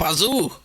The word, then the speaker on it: Pazu: So, Pazu, is that how you say it right? Pazoo!